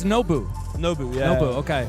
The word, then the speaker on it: Nobu: I think Nobu might be seeing Champions Field once again. So it's Nobu. Nobu, yeah. Nobu, okay. It's like N-O-Bu.